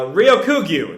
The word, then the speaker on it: Ryokugyu: me look up how it's supposed to be pronounced uh ryokugu there we go um i warned you not